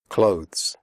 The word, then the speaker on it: clothes: comfortable not comfortable comfortable clothes the final sound is of the followed by an S clothes if this is difficult for you just pronounce it like clothes as in close the door close answer the WC